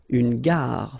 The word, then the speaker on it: gare: Okay, remember when you get these G and A together, the sound is g, ga, ga. Une gare, final E not pronounced.